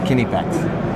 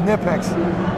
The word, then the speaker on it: Knipex: It depends on where you're at, but the Germans actually pronounce the name Kinepex. You might know it as Kinepex in the U.S., which is how we say it. Yeah. But most of the time, the actual pronunciation, the real pronunciation, is Kinepex.